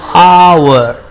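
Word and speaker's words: hour: ऐसा दिख रहा है लेकिन उसमें एच का जो लेटर है वो साइलेंट होता है, इसलिए उसको आवर इस तरह से पढ़ेंगे और उसका राइमिंग हो जाता है शावर.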